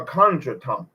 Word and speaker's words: contretemps: Although through Oriole's incompetence, Donnie ends up with the girl nearly twice his age, and minor countertemps ensue. Minor contretemps. CONTRETEMPS. CONTRE. My bad.